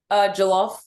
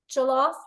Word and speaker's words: Jollof: How do you pronounce it, Tee? Jollof? Jollof. Jollof rice.